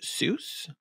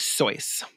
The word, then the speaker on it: Seuss: if you're at school his pet name is regularly pronounced Seuss which is an angelized version of his German name but it's more like so it was originally so which is like I